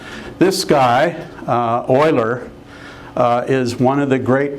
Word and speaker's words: Euler: And it is sort of pronounced a little different than you might try to say it based on the letters. This guy, Euler, is one of the